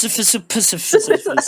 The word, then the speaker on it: Sisyphus: And yeah, how about you, Sisyphus? It's pronounced Sisyphus.